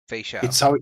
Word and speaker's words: Feixiao: Feixiao.